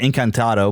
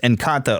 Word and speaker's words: Encanto: I think I keep wanting to call it Encantado, but it's just Encanto or whatever.